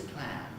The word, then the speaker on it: clan: sorry d and e d is clan clan it ends in an alveolar nasal cloud but e velar